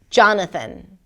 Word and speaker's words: Jonathan: Jonathan.